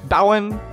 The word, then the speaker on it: Bowen: are all in Bowen Bowen Bowen Island there's two different pronunciations to that the 280 is the